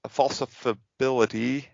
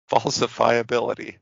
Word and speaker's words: falsifiability: um we have poppers false falsifibility well that's hard to say uh principle is this uh related to orville redenbacher falsifiability that's how you say it i was close redenbacher's